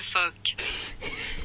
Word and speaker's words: phoque: Le phoque.